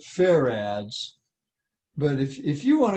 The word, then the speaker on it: farad: there you go now they pronounce it fair ads but if if you want to call it farage you go right ahead